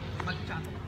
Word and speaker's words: macchiato: Macchiato. Macchiato daw. Parang pamato ah.